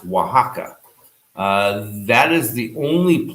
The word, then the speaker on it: Oaxaca: from us in oaxaca that's the other x it's o x a o but that's pronounced oaxaca uh that is the